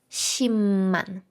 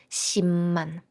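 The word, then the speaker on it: 십만: і найцікавіше 100 000 шімман шімман вам не почулося написано п але вимовляємо М сімман 1 мільон пишеться пекман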